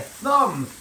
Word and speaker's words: thumb: siiz piece of Ginger we don't say it like that we say a thumb it's a thumb no